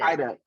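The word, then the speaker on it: Haiduk: General Hospital, Stacey, I'm so sorry I can't pronounce her last name, but Stacey Hyduck. Hyduck, there we go, Hyduck, as Kristen Demare from Days, Melissa Ordway as Abby Newman.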